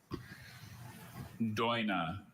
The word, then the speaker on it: doina: Dina.